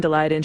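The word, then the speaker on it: Daleiden: So Diane DeLayden, she's a teacher, she's a CTU member, she is endorsed by the CTU.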